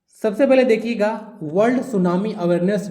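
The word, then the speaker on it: tsunami: टी इसमें silent होता है ना सुनामी में।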